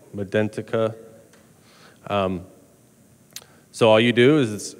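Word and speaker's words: Medentika: These are the multi-unit abutments from NT Trading Company, or I think you pronounce it Medentica.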